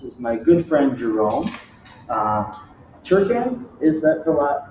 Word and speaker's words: Turcan: Turcan, is that how you pronounce it? Turcan. Turcan.